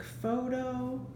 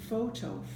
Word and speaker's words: photo: with, and that is when words start with PH, like photo or phone, the PH makes the F sound, photo, phone.